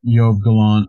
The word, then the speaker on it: Yoav Gallant: Yoav Gallant, yeah.